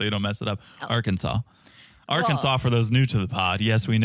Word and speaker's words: Arkansas: appropriate name so you don't mess it up Arkansas Arkansas for those new to the Pod yes